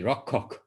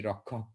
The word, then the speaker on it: Rakshak: they will definitely say Bhakti Rakshak, like K-H-A, Ka, like and making a little bit of an extra emphasis on that last A, Bhakti Rakshak, Sridhar Maharaj.